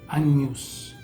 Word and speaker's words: agnus: Regla número 10, las letras GN suenan como la ñ, como por ejemplo en el cordero, que se dice agnus, se escribe A-G-N-U-S, se lee agnus.